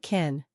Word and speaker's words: kiln: It sounded like kin.